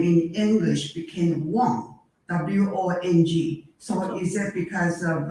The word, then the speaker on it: Wong: It's Cantonese. Wong is Cantonese. Yeah, I know, but see, that's quite confusing because in Mandarin, Huang is spelled differently.